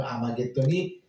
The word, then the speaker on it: 아마겟돈: 그 아마겟돈이 바로 머깃도입니다. 머깃도, 텔 머깃도 이거를 본래 히브리 말에서는 하르 메깃도였는데 하르의 H가 묵음이 되고 아르마겟돈 그래서 메깃도의 산, 메깃도의